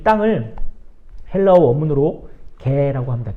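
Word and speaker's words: γῆ: 이 땅을 헬라어 원문으로 개라고 합니다. 개. 그냥 멍멍이 개라는 그 발음보다는 그 땅에 기어다니는 개라는 그런 발음이에요.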